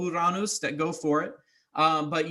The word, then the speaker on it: Uranus: also another one and technically uranus is still correct so as sunny as funny as it is um it has many different pronunciations so um you know but uh to kind of eliminate a lot of the chuckles uh the more appropriate or more proper one that we use now is uranus but um anyways i